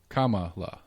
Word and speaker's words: Kamala: The trick to saying her name right? Yeah. It's a comma. Kamala. Kamala. Kamala, yeah. So Kamala. So the punctuation is how I remember to say it right.